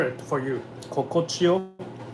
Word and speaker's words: Kokochiyo: Kokochio is like easy. K-O-K-O. Kokochio. K-O-K-O. Chio. C-A-C-H-I-Y-O.